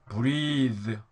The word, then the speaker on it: breathe: 자 근데 이건 길게 이가 있으면 나면서 breathe, breathe.